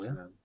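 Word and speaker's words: Vietnam: He was killed in the 이- 비, 그냥 베트남이라고 읽어요. 비에트남이라고 발음하더라고요. 비에트남. 예, 네, 비에트남으로.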